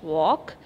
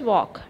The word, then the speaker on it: walk: okay first one is walk w a l k so here which is a silent letter yes l is a silent letter so walk we will